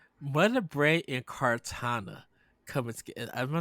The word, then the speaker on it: Cortana: Uh Like, Mother Brain and Cortana coming together. Am I saying it right? yeah, Cortana.